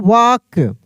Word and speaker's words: walk: रहता है WALK, WALK, तो इसको हम लोग पढ़ते हैं वाक। क्या पढ़ेंगे? इसको हम लोग वाक पढ़ेंगे। इसमें भी एल जो है, एल जो है यहाँ पे एल, यह साइलेंट है। क्या है? साइलेंट है। एल को हम लोग बोलेंगे साइलेंट लेटर, ठीक ना, एल साइलेंट है।